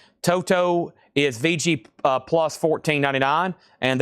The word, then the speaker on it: Toto: Uh, I'm being told you pronounce that second T like a D.